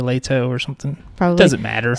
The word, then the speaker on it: Leto: i think she said i think they said it more like leto or later or something probably doesn't